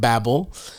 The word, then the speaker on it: Babbel: neonic device for you sort of sounds like BBL when you spell it out Babble uh get 55% off